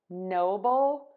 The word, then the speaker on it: noble: bowl bowl no bull noble noble noble we are stressing the no for novel I have